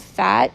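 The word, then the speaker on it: phat: the past she just started a website called fat p-h-a-t um let me see i want to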